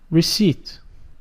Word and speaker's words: receipt: The next word, the P is silent, so we say receipt.